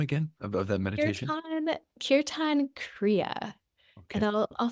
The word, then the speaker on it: Kirtan Kriya: So Kirtan Kriya is a form of meditation that has an abundant amount of literature associated with it.